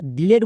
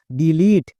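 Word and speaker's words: delete: আমরা সবাই জানি কোন শব্দের একদম শেষে যদি ই থাকে তাহলে সেই ইটা সাইলেন্ট থাকে মানে তার উচ্চারণ করতে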